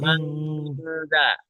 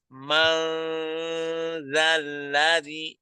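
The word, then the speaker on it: مَن ذَا الَّذِي: Man zalladzi yashfa'u Mangza. Ma itu kita baca dengan ikhfah ya. Jadi dia samar. Mangzalladzi, jangan mang. Mang itu hanya pada huruf nun mati bertemu dengan qaf atau kaf saja ya.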